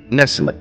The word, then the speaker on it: nestle: Nestle. Here T is silent.